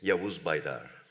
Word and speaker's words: Yavuz Baydar: So you can briefly introduce yourselves to make sure that I don't do the pronunciation wrong. Yavuz. Okay. Yavuz Baydar.